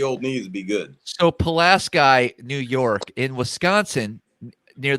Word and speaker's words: Pulaski: have a town called pulaski p-u-l-a-s-k-i the same way it's spelled in new york but in wisconsin we call it pulaski you call it pulaski